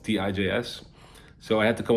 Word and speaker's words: Tijs: and my real name is thais which is very hard to pronounce for people around the world tijs so i had to